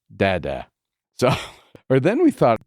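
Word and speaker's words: დედა: And mother in Georgian is pronounced dada.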